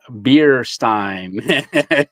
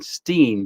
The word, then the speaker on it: Beerstein: So I was saying Steen, but it's Stein.